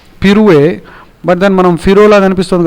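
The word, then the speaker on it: pirouette: So Hindilo Piro, you pronounce it as Pirue, but then మనం ఫిరోలా కనిపిస్తుంది కాబట్టి ఫిర్నా, కైకు ఫిర్రే బై, గుమ్రే ఫిర్రే.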